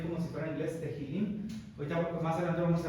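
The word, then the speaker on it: תהלים: Ok, entonces, en griego, bueno, el título en hebreo es Tehilim. Creo que la H se pronuncia como J, o sea, lo estamos viendo ahí como si fuera en inglés, Tehilim.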